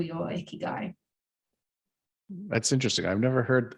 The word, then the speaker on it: ikigai: world needs that's what the Japanese call your ikigai that's interesting I've never heard I've never heard of the icky guy okay yes I don't know that I've pronounced